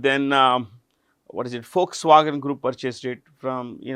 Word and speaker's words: Volkswagen: This V is pronounced with an F. Remember this. It is not Volkswagen. It is Folkswagen.